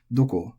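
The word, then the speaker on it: どこ: But for whatever reason, and this goes for all question words, generally all question words in Japanese are technically pronounced atamadaka, or head high, doko, dare, nande, naze.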